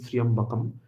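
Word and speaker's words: Tryambakam: When we will pronounce it, it will become Triambakai, because the following letter is Ya. So it will be Triambakai, but the word is Triambakam.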